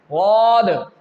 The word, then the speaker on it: ض: The 3, Jeem, Sheen and Ya, will pronounce from the same place, and the 4th word, which is Daad, is pronounced from the sides of our tongue.